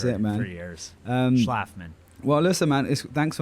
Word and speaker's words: Schlafman: Schlafman. Schlafman. So it's, people have butchered it my entire life. And so it's what I like to say, it's like, laugh.